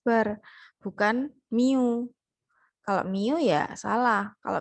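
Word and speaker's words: μ: populasi jadi misalnya ada Min proporsi dan varian kalau pada populasi pada populasi rata-rata itu dituliskannya sebagai simbol ini Miu seperti m tapi dia latin gitu ya Miu bacanya Mi dia itu rata-rata Tapi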